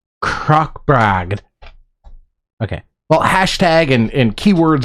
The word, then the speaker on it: Krokbragd: that's all I know now it's Norwegian well it's it's called rogue croc bragged okay well hashtag and